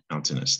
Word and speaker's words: mountainous: with mountains mountain it sounds like mount 10 doesn't it yeah that ai is confusing so you spellers out there mind your mountain bus look at that again mountain tin ai us mountainous three syllable word all right that's it